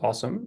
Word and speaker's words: OSoMe: observatory on social media which we pronounce the uh acronym there as awesome is a joint project